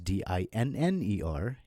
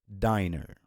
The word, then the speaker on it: dinner: But then when you add another N in between, so it becomes D-I-N-N-E-R, and since N is a consonant, so it becomes a double consonant with double N, and the I sound is shortened, so it becomes dinner instead of diner.